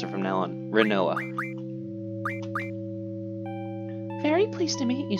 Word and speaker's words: Rinoa: yeah my name's I want to say her name is pronounced rinoa because I never actually learned how to pronounce her name because I used to pronounce it right like as in wit like a rhinoceros rhino ax but there's no H so I'm gonna say we're in Noah all right that's how